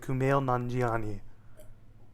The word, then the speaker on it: Kumail Nanjiani: Black International starring Chris Hemsworth Tessa Thompson and Kumail nanjiani that's how you say his name everybody and